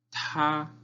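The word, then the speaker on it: 他: Él, ta. La T suena con aire. Ta es el primer tono, entonces es como si estuviera cantando una nota alta.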